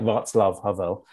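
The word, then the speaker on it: Václav Havel: country like i mean i almost said vaclav are there but like vots love harvell are pronounced in a different way that you that you grew up with and i think the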